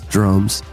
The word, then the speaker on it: Dromes: Like drones with an M.